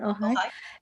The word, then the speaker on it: Ojai: Is that how you pronounce it? Ojai?